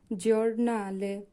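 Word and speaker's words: giornale: জাক্কা জি এর পরে আছে ই ও হবে জরনালে মানে পত্রিকা জি এর পরে আছে ইউ হবে জু জুসত জুসত মানে হচ্ছে সঠিক আশা করি এতটুকু আপনারা বুঝতে পেরেছেন।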